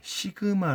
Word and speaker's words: 시그마: 자 우리가 이번 시간에 새로운 기울 배우는데 시그마 라고 읽습니다 시그마 시그마 한데 어 이것은 그리스 문자로 서 영어에 s 에 해당이 됩니다 그래서 얘는 더하는 더